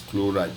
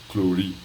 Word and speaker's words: chloride: sodium flow right you you pronounce it as chloride not clearly it ends with it